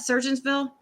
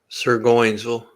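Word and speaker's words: Surgoinsville: Surgeonsville? Sirgoinsville.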